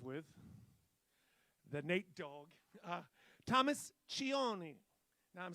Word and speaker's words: Cioni: Thomas Cioni. Now, I'm saying it's Cioni, C-I-O-N-I, but you know that in Italy, they pronounce that one C with a ch.